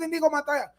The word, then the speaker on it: Inigo Montoya: Well, it's spelled Yeah. indigo. It's spelled Okay. indigo, but he said it with that Spanish accent. My name is Inigo Montoya.